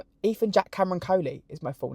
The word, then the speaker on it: Coley: Coley, it's Coley.